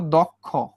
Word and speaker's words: দক্ষ: এই যে দর সঙ্গে কিন্তু একটা অ যুক্ত ছিল তাই না? এই যে অ, এবং অর পরে কি আছে দেখো? ক্ষীয় আছে। তাহলে এই অটার উচ্চারণ কিসের মতো হয়ে যাবে? ওর মতো উচ্চারণ হয়ে যাবে, অর্থাৎ দয়ে ওকার হয়ে গেছে।